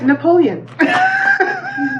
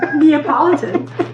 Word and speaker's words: Neapolitan: Napoleon. Neapolitan.